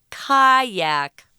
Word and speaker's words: kayak: This is one of them, kayak.